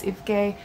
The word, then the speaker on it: Evke: Her name is spelled E-V-K-E, which is Ifke, but everyone just calls her Evie.